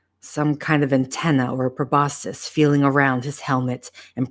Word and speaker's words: proboscis: again it's uh the I kept saying probiscus last time but I knew it was wrong but I can't remember